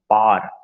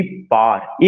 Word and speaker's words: power: जो हम लोग प्रोनाउंसिएशन पावर कहते हैं वो गलत है, दैट शुड बी पार, एक सिलेबल है। जब आप पावर प्रोनाउंसिएशन कहते हैं तो आप उसमें 2 सिलेबल निकालते हैं।